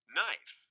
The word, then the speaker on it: knife: Not, knife, knee. These are all Viking words. But somehow we have lost the first sounds, and now they are silent.